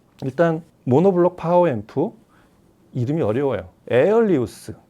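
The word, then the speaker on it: Aelius: 에리우스. 에어리 이우스도 아니고 에리우스라고 발음해야 되는데 이제 그리스 발음이다 보니까 뭐 아일리우스라고 쓰시는 분들도 있고 그런데 통칭 그냥 수입사에서 부르는 이름대로 에일리우스라고 부르면 어이 제품은 정확히 하이브리드 파워앰프예요.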